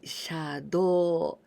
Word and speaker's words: 車道: So, 車道, we pronounce in onyomi, 車道.